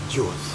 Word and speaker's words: Jew: The spelling is J-E-W, but the pronunciation is J-U.